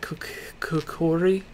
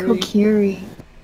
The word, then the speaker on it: Kokiri: I am part Kokori. Is that how you say it? Kokori? Kokiri.